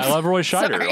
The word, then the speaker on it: Scheider: You just love Roy Schneider, and that's fair. Scheider. Sorry, Roy Scheider, and that's fair. Good thing you're here to pronounce the names correctly. Scheider. I just don't want him associated with like Rob Schneider.